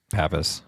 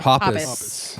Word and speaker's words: Hoppus: No, it was Pappas. Pappas. Papas. Am I saying it right? Hoppus.